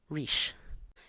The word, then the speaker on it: rís: a front vowel, E, so the word is pronounced riche.